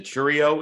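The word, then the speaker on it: Chourio: there um we just saw Jackson is a Cheerio am I pronouncing that correctly yeah yeah now is the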